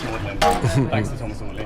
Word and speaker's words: Magdalen: So you'll see it spelled Magdalen College, but it's pronounced Magdalene, thanks to Thomas Audley. Magdalene.